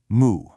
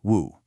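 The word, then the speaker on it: 無: It was just this one single powerful syllable, moo. In Chinese, it's woo, and it means no or not or without.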